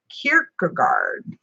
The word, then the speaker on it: Kierkegaard: Kierkegaard. See, this is it. We have two now. We have Kierkegaard and Kirk. Elrond, I would pronounce that Kirk like Captain Kirk.